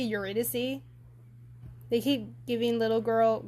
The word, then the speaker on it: Eurydice: in Greek myth also how does everyone pronounce Yuri dice I tend to go your red disti eurydice I just I say dice so I can't help but say dice but it's probably eurydice they keep giving little